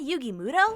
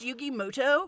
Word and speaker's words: Yugi Muto: a minute is that yugi muto actually his name is pronounced yugi moto we'll see about that